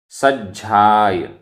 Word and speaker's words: सज्झाय: सज्जाय, आधा ज झ, सज्झाय, सज्झाण, आधा ज झ,